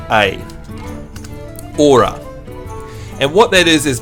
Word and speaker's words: ora: then the next one is o r a aura and what that is is basically a greeting